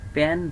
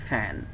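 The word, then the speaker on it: pan: একইভাবে আমরা যেটাকে প্যান বলতাম এখন হয়ে যাচ্ছে ফ্যান। সো আমার মনে হয় ক্লিয়ার, তাই না?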